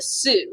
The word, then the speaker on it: Sioux: uh was a native american nation called the sioux which is spelled s-i-o-u-x if you're wondering the sioux nation